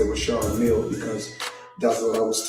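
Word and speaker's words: Richard Mille: Now I must let everybody know cuz everybody pronounce it different. Some say Richard Millie. Myself I say Rashard Mill because that's what I was told in 2012 when I first purchased the watch.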